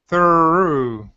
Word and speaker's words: through: Now, we're going to go from the ooh and finish it. Instead of leaving your mouth open in an ooh, it's ooh. Ooh.